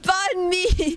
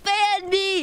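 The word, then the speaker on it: bánh mì: it it says b bun me it says ban me do it now streamer no shut up that's not even how you pronounce it white boy sandwich yeah it's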